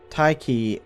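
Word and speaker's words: Tiche: Tyche is a letter-swapped spelling of an ancient Greek word that represents the Greek deity of fortune, which is why I'm pronouncing it that way, by the way, and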